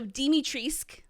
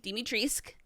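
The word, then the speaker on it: Dimitrescu: how you say it so dimitrisk yes dimitrisk according to capcom the u is silent so because i asked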